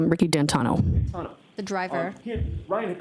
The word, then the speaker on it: D'Antuono: How do you pronounce the name? It's Ricky D'Antano.